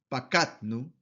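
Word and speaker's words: פָּקַדְנוּ: Y el primero común plural se pronuncia como pakatnu, pakatnu. ¿Por qué? Porque aquí también contamos con un sheva que se encuentra entre dos vocales. ¿Cuáles serían esas dos vocales? Esta shuru final, que es la U, y esta pata que precede el sheva. Entonces, en este caso no se pronuncia.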